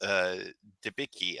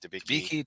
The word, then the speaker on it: Debicki: see, her name was Victoria, played by Elizabeth Debicki. I think that's how you pronounce her name, Debicki.